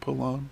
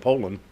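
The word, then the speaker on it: Poulan: brought in a pool i can't say it right pull it pull on pull on pull i call it poland yeah and p-o-u-l-a-n i think so you've got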